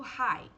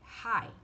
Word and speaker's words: high: Por exemplo, high. Aqui, high, ele é mudo.